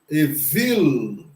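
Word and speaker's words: אויל: Então, é aí que entra a vogal mista, né? Hatef Segol, que vai dar o som do E para o Aleph. Então, nós temos aí, depois nós temos o Vav com o Hirek Yud, que tem o som de I, e o Lamed com o som de L. Então nós temos aqui o Evil, o Evil.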